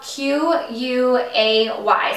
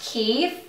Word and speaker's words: Quay: these sunglasses from key it's spelled q u a y so it looks like Quay but I think it's pronounced key Australia they are in